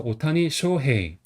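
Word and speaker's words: 大谷翔平: 그래서 오타니 쇼헤이.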